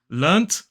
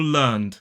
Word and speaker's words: learnt: So you will hear both pronunciations in the UK, learnt or learned. One thing is that some people will write it with the ED and still pronounce it as t, learnt. However, technically, probably if we're going to follow the rules, if you want to write it with an ED, you should be saying learned.